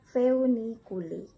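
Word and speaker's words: Foeniculi: Kemudian OE dibaca EU. Nah, jadi ada tulisan Voiniculi, tapi harusnya kalian baca Feuniculi.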